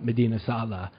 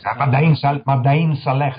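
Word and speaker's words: Mada'in Saleh: Well, really high on my bucket list in Saudi Arabia is Petra's cousin of Medina Salah. Tell us... Madain Saleh, they pronounce it.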